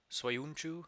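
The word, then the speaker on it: Söyüncü: he should get better soyunchu i believe is how you say that uh he he has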